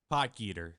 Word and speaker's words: Potgieter: Did I pronounce that right? Thorbjornsen, yeah. Yeah. Yeah. Jacob Bridgman. Hae-Tong Lee. Aldrich Potgieter. Potgieter.